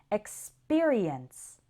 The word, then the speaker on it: experience: And in experience, it sounds more like peer, experience.